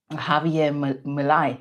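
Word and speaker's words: Javier Milei: Um Javier Malai, that's how you say his name.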